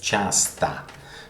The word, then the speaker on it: часто: For example, in the word часто, which is pronounced часто, because you will see that sometimes O is pronounced like A in Russian. I'll explain you why later. Well, because they're not stressed. When O is stressed, it is pronounced O. When O is not stressed, it is pronounced A.